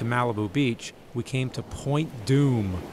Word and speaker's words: Point Dume: About a 30-minute drive to Malibu Beach, we came to Point Dume. Sounds scary, but it's spelled D-U-M-E.